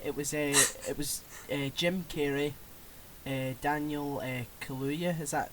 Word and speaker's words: Kaluuya: It was Jim Carrey, Daniel Kaluuya. Is that how you pronounce his second name?